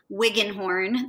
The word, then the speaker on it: Wiggenhorn: ER I see a wigan horn that's a mouthful so I'll spell it for you WI G G e and H o RN so it's just like it sounds but it's Wigan